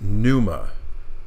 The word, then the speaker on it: Pneuma: It goes by very, very quickly during the cutscene where she's introduced, but her official name is Numa, starting with a silent letter P.